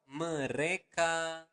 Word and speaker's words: mereka: So, mereka makan setiap hari. Okay? One more time, slower. Mereka makan setiap hari. So again, you want to pronounce the letter R clearly. Mereka, not mereka, but mereka makan setiap hari.